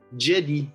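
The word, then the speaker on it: Djedi: to pronounce it but it's a french brand so i'm gonna pronounce it in french jedi by gerharlan maybe jedi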